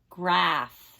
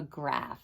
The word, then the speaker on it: graph: number one the two words say grape and graph that pH says and what is this a picture of we've done these much a lot in math a graph very good so color the circle next to